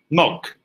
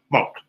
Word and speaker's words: milk: Which in New Zealand would be pronounced monk. I'm led to believe that non-New Zealanders pronounce that particular product milk. Milk. New Zealanders tend to substitute the I for a U. Mock.